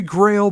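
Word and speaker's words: Graal: nine minutes long and I believe it's pronounced grawl g-r-a-a-l it could be Grail but I think it's girl regardless I think that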